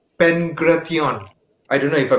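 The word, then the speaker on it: pankration: in the ancient Olympics there was something called Penn karate on I don't know if I pronounced it right pankraz yeah thank you Thank You Shan yeah yes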